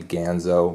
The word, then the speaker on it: Ganzo: Might be Ganzo, but I'm going to say Ganzo. That sounds more correct.